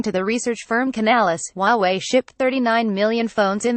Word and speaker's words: Huawei: Huawei pronounced Huawei is already well known at home.